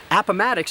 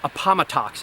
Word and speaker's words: Appomattox: And Appomattox is pronounced that way, not Appomattox, as I often hear it pronounced.